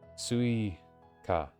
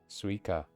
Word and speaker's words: スイカ: I kind of say the sui really fast, don't they? Suika. Suika. Suika. I always want to pronounce every syllable, but sometimes they just say it. スイカ Sweet. Suika. Suika. Sometimes they say it to a level where you don't, like, even hear it, you know?